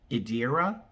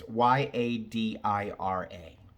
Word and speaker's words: Yadira: Idira, that's what I'm gonna guess how you say it. Idira. It's Yadira.